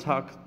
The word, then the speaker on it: talk: silent - you mustn't talk to the bus driver you mustn't talk to the bus driver tea and we're gonna add the L number three discipline it